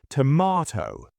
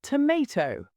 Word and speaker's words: tomato: British, tomato. American, tomato. Let's call the whole thing off.